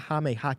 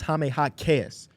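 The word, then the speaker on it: Jaime Jaquez: I pronounce his name because on the heat broadcast it's not hameh hak hotass is hameh hotass they put an extra emphasis on that end of his La hame hotass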